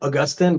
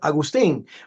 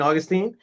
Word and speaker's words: Agustin: Let me spell it because it looks like Augustin, but I never like that pronunciation. And in Spanish, it's Agustin, but some people get confused. So I confuse people by saying, my name is Augustine. I like Augustine, like Saint Augustine.